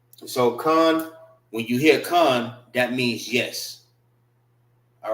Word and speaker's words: kan: Con means yes. K-A-N. It's not can, it's con.